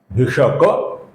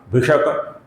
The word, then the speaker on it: भिषक: भेषजम भिषक, यहां पर क अपूर्ण है, किंतु पद के अंत में आने के कारण हम इसका लगभग पूरा उच्चारण करेंगे।